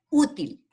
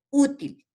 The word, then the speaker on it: útil: Por ejemplo, útil, lleva en la U.